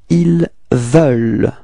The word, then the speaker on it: ils veulent: ils veulent, alright, so it's not so deep, actually, it's quite open, it's veulent, okay? The final E-N-T is not pronounced, okay? So actually you only pronounce this V-E-U-L and quite light, okay?